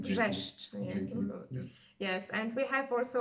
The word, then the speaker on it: Wrzeszcz: Okay, but the way to pronounce it, I think, is Wrzeszcz. Yes, and it is perfect pronunciation. Wrzeszcz.